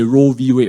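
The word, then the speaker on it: Roe v. Wade: s really they overturned roe versus weight so you know roe versus is a proper pronunciation but the american likes to short for everything did you say roe v wade right so if you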